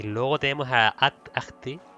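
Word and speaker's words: Ahti: Y luego tenemos a Ati, yo lo llamo Ati, porque no pronuncio la H, pero que también seguimos sin saber absolutamente quién se supone que es.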